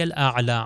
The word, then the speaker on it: الاعلیٰ: اسی طرح سبحان ربی الاعلیٰ عین کا تلفظ صحیح طریقے سے ہو و بحمدی.